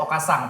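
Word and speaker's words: お母さん: Tulisannya Okasan. Okasan. Tapi kalau bener. bacanya tuh Okasang pakai Iya, N pakai ujungnya. NG gitu ya.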